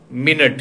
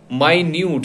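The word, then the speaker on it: minute: क्या है आपके स्पेलिंग्स एक जैसे होंगे लेकिन प्रोनाउंसिएशन अलग होगा, जैसे कि मिनट, एम आई एन यू टी ई, मिनट यानी एक मिनट, 60 सेकेंड्स वो। और दूसरा क्या है माइन्यूट यानी कि सूक्ष्म, बहुत छोटा, स्पेलिंग सेम है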